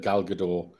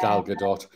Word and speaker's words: Gal Gadot: you know Fiona said I've heard gal gador say her name and use and she says the T no the Gal Gadot so everybody's wrong I